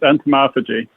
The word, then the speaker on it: entomophagy: does that word entomophagy mean well it's generally pronounced entomophagy and it basically just means people of the